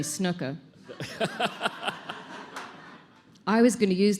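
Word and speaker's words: Snuka: No, that's not how you say his name. Superfly Jimmy Snooka.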